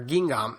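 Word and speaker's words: Guingamp: to be talking about, which is Guing or Ging, sorry. I I've heard different pronunciations of that, but it's I think it's Ging versus PSG.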